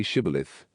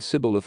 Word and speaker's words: Shibboleth: If he answered, "No," they would ask him to say Shibboleth. If he said Sibboleth, not pronouncing it exactly right, they would seize him and kill him at the fords of the Jordan.